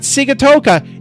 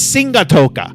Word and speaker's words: Sigatoka: No, it's not Sigatoka. It's Singatoka.